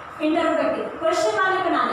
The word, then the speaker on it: interrogative: हम इसको इंटरोगेटिव बोलते हैं, लेकिन इंटरोगेटिव गलत वर्ड है. हमें इंटरोगेटिव बोलना है, हमें गे नहीं बोलना है, हमें ग वर्ड यूज करना है, इंटरोगेटिव बोलना है.